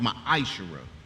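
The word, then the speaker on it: מעשר: It means 10th in the Hebrew and is pronounced ma'ashera.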